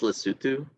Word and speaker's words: Lesotho: okay it's like Lesotho right uh yeah that's pronounced Lesotho it turns out I had like a friend